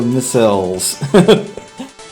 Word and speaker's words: missile: Miss Isles or Missiles? I've always pronounced it missile. With that schwa in there.